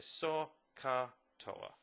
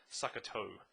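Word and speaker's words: SOH CAH TOA: to it okay so saw car taller or as my last year nines you said it they said suck a toe that does not help so Carter so let's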